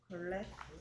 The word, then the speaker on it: glass: 자, L 발음은 혀가 밖으로 메롱하듯이 글, 글 한다 해서 글래스.